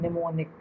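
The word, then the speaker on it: mnemonic: तो ये जो हमने ऐड यहाँ पर यूज़ किया है इसको हम बोलते हैं निमोनिक। ठीक है। ये क्या है? निमोनिक है। एम साइलेंट है।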